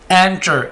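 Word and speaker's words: enter: एंटर, इसको इंटर नहीं बोलना, एंटर, एंटर।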